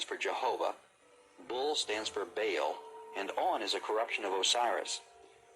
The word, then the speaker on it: Baal: his prefer to say Baal. The word is probably the contracted form of some other Hebrew word, commonly pronounced Baal and spelled B-A-A-L, and he was worshipped by the Babylonians as their chief deity.